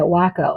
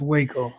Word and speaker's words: Waco: I first met hubby I think he said Wacko and I go I didn't say I called it wacko but it's pronounced Waco so I go honey understand that a lot